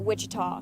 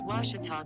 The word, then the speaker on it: Ouachita: university back in texas everybody pronounces it wichita but really it's ouachita washington washington how would you pronounce it it's washita baptist university get it